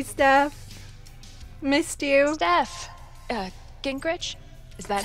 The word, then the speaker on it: Gingrich: my girl hey steph missed you steph uh gingrich is that how you say it yeah that's